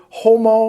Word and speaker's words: homo: rules of grammar and utters the word homo, which is human being, without sounding the H in the first syllable, he will offend men